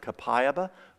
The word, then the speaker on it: copaiba: copaiba who's heard of copaiba some people pronounce it capayaba copaiba has the highest